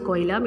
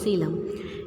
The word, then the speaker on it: coelom: Don't pronounce it coelom, it is coelom, in which well developed organs can be accommodated.